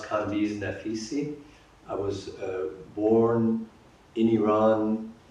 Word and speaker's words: Kambiz Naficy: My name is pronounced Kambiz Naficy.